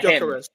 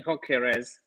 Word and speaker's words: Gyökeres: I can never pronounce his surname. Yeah, Gyökeres.